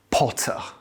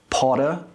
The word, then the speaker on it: Potter: In British English, the T is clear as a pure T sound. However, in American English, it can sound a bit more like a D. Can you hear the difference? Potter, Potter.